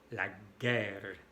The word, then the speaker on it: guerre: Aprovecho para decirles que en francés, cuando hay una E al final, sin acento, no se pronuncia. La E al final no se pronuncia. Guerre y no guerre. Drogue y no drogue. No drogue, drogue.